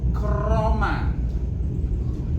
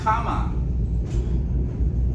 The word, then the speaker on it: Krama: We have to vibrate your tongue a little bit. Krama. If you do not vibrate your tongue at all, it means that karma. It's not krama.